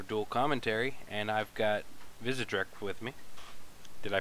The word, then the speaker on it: Vizedrek: This is my first ever dual commentary, and I've got Vizedrek with me. Did I pronounce that correctly?